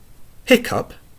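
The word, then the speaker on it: hiccough: Finally, which rhymes with enough? Though, through, bow, cough, hock, sow, tough. Hiccup has the sound of sup.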